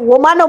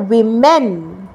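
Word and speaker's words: women: ই এন উচ্চারণটা হচ্ছে উইমেন যখনই এটা প্লুরালে যাচ্ছে উচ্চারণটা ডব্লিউ ও আর থাকছে না ওমেন না আমরা কিন্তু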